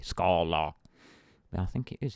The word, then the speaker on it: Scala: may as well teaching look into scaler Scala sorry let me pronounce it correctly Scala but I think it